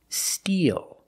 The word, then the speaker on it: steal: And the second word and the third word are pronounced exactly the same. The mouth is more closed. E. Make a long E sound. Steal.